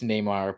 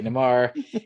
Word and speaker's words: Neymar: tomorrow I know yes pronounce Neymar but I still say Nemar give me a little